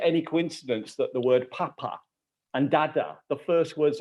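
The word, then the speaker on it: Pah: The H is not pronounced, but it's sounded.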